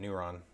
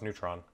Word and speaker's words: Neuron: Oh, that actually is how you say that, Neuron. Oh. Okay, I thought it was Neutron.